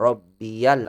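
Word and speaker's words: رَبِّيَ: Seperti dalam doa kita subhana rabbiyal azim. Subhana rabbiyal azimi wa bihamdi. Rabbiya dibaca dengan rabbiya karena ya mutakallim bertemu dengan alif lam.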